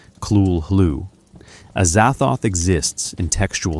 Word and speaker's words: Cthulhu: Unlike Cthulhu, which Lovecraft provided pronunciation guidance for Kul Hoo, a Zathoth exists in textual silence.